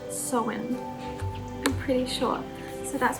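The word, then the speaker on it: Samhain: but i do believe i'm in gaelic it's pronounced so wind i'm pretty sure so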